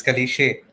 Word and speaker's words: Kalishe: How do you pronounce Kalishe or Kalish? Oh my god, you pronounced it right. It's Kalishe. Oh, Kalishe. Yes, tell us what you do at Kalishe.